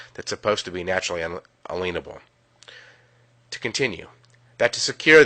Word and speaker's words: unalienable: Now really quick, an unalienable right, pronounced inalienable in today's words, means a right that cannot be liened or a right given to you from God.